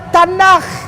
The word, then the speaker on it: Tanakh: Dibacanya Tanakh.